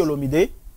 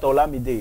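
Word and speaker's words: Olomidé: Kofi Olomide. Kofi Olamide. We say Olamide or Olamide. It's not Olamide. It's Olomide. It's Olomide. Okay. Kofi Olomide. Okay. Yeah, don't pronounce it in English.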